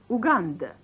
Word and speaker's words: Уганда: Pronounced Uganda.